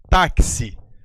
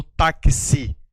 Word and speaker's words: táxi: representa esses dois sons perceba aí a palavra taxi me diga você a letra x nessa situação nessa sílaba aqui tem som de q eu falo vou pegar o tax ou eu vou pegar o táxi Professor acho que é táxi exatamente perceba aqui que eu pronuncio o grupo KS tá que si Então